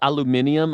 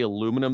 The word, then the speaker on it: aluminium: Like, I feel like if someone says aluminium, Americans are just like, I get it. But if you go to England and you say aluminum, they're like, that's not how you say it.